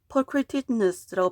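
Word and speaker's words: pulchritudinous: pulchritudinus라고 발음을 하고 이 단어는 beautiful이라는 뜻을 가지고 있대요.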